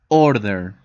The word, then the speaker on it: order: For example, the verb order. I will order my room. Order. The emphasis is in or.